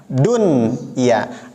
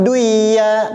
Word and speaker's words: dunya: Padahal di sini nun mati bertemu dengan ya, jadi bacanya bukan duya, tapi tetap dunya karena ini pengecualian.